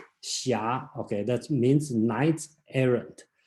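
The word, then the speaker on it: Xia: one called shia again this book spells a very strange spelling called h s i h something like that is the pronounce the correct spelling in today should be x i a shia okay that means knight's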